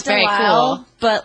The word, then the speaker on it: Delisle: I love the French way. It's very endearing. Delisle. Yeah, Delisle. That's how Yeah, it's but supposed just to be. Delisle. I It sounds very Delisle, cool.